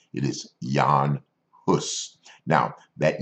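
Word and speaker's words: Jan Hus: want you to take note of how I pronounced his name it is Yong puss now that name is anglicized and we probably know him a little bit better as John hood but his original name is that of Yong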